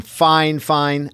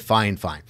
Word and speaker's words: FiFine: of me this is the new microphone from fine fine I'm sure that's how you pronounce it they the company actually sent this